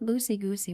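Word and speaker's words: Lucy Gooosy: It's like Lucy Goosey with three O's. Okay, it's just a little bit longer. You have to hold the oo and goosey in order to correctly pronounce my name.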